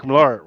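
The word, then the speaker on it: Millar: of spy is number three written by mark milar so if you don't know who mark milar is i'm sorry what's that yeah he's actually pronounced miller like the mirror okay then he just spelled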